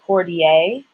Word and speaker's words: Cordier: So I know we have a Laurendine, a Cordier, and the French would say Cordier. They would pronounce it like that.